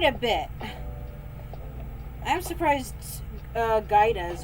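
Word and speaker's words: Gouda: bit I'm surprised uh gaidas or guidas as some people pronounce it hasn't gotten looted a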